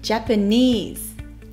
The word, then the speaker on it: Japanese: いう単語ジャパニーズですジャパニーズの出だしジは唇を少しつぼめ口を横に大きく開け下を見せますジジジのあの時は下を下の刃の裏にくっつけますじパは弱く空気を出しますパパニーズ